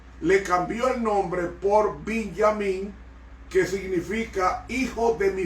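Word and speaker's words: בנימין: Benjamín se pronuncia en hebreo Binyamin y era el hijo menor de los 12 hijos de Jacob.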